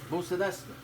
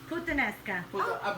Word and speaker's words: puttanesca: Buccinesta. Puttanesca. I pronounce it wrong.